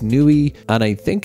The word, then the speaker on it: Niue: best of my ability I think it's pronounced Nui and I think its